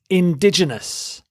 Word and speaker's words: indigenous: precise the next word is indigenous indigenous you stress the second syllable ditch indigenous if a